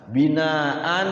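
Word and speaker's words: بناء: Nisaan, ma'an, binaan ya, binaan itu ketika wakaf binaa, di wakafnya dua harokat.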